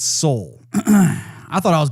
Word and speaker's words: Seoul: not been pronouncing that that name correctly its soul I thought I was mispronouncing it well the last time I said